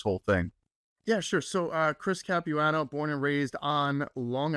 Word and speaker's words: Chris Capuano: And his name is Chris Capuano.